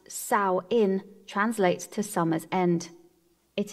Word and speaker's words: Samhain: the witch's new year samhain pronounced sau in translates to summer's end